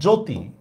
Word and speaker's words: জ্যোতি: Same দেখেন জফলা দিয়া, মনে করেন আমি লিখলাম জ্যোতি, দেখেন এটা উচ্চারণ হয়? উচ্চারণ হয় না, জ্যোতি।